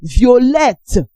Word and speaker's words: violette: The T is silent, while the feminine is vet. Vet. We have violet. Violet. The feminine is violette.